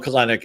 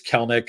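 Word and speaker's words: Kelenic: we're pronouncing it right it's not everybody wants to call him kenck it's Kellick I know it doesn't make sense the way it's spelled but you want pieces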